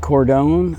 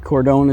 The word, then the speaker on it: Cardone: times rule by Grant Cardone I think cordone is a proper pronunciation um it's 240 Pages hardback it was written in 2012.